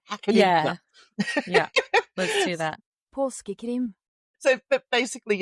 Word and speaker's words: Påskekrim: I will do what I did with Christmas, and I'll go get someone pronouncing it right and hack it in. Yeah, let's do that. Påskekrim.